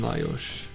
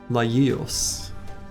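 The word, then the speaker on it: Lajos: gree you had a Hungarian footballer named layos we were pronouncing it lios closer probably lios is probably not how you were saying it either I had a uh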